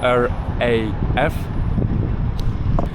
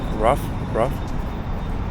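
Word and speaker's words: Раф: You know how to pronounce this coffee? The name of the coffee? RAF? No, it's RAF.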